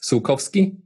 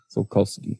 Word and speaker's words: Sułkowski: It's all usually you just mispronounce the O. It's Sułkowski. Sułkowski.